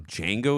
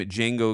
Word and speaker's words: Django: After being asked to spell his name, Django explains the D is silent.